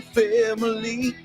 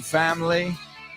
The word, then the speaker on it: family: No es tres sílabas en inglés. Aunque tenga tres vocales. Y contando. Say it with me. I'm going to hang out with my family. Family. ¿Ves? La I latina del medio no lo decimos.